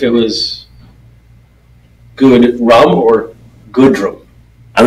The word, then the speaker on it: Goodrum: thank you having me how do you say your last name good drum okay so I'm I'm trying to avoid the good rum part of it yeah well I wasn't